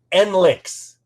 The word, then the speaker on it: NLiX: and members of the still super easy to pronounce n-l-i-x or as the kids are saying n-links yeah it still doesn't